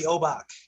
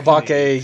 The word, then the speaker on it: Obake: There is an E on the end of that word that you pronounce. So, because you're I'm not Japanese. You're Obake, Yubake, Ibake.